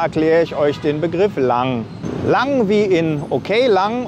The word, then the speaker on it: lang: lockere Stimmung zu erzeugen es wird genauso wie das deutsche lang ausgesprochen es kann als eine